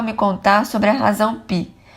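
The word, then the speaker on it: phi: Ele começou a me contar sobre a razão pi. Pronuncia-se fi de 1,618 arredondada, que há três casas decimais.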